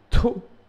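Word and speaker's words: D'oh: C'est le to, mais ça s'écrit D apostrophe OH. Mais ça se prononce to, normalement.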